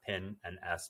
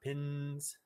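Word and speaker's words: pinns: with a binary called pin and s it's pronounced pin and s not pins and it currently lives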